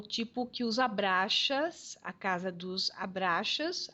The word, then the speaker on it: Abraxas: o tipo que os abraxas a casa dos abraxas às vezes eles pronunciam abrasax né independente da pronúncia mas aqui em português nós vamos falar ab a b r a x a s e é o maior